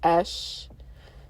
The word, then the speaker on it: Ea: Ash, which is Ea, because that's pronounced Esh. Ea is Esh, like Ash, the Egyptian goddess of the Oasis, Egyptian god, of the Oasis.